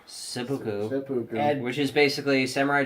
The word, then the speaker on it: seppuku: Seppuku.